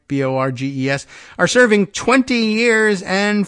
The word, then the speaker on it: Borges: Householder and former state GOP chairman Matt Borges, has got his pronunciation right, Borges, are serving 20 years and 5 years, respectively, in federal prison for their roles.